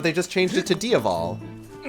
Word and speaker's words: Diaval: just changed it to Diaval. Spelt with a V, but it's phonetically the same as the word for devil in Irish.